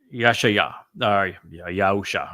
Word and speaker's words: Yahusha: And Yahusha, it should be the most correct way to say it.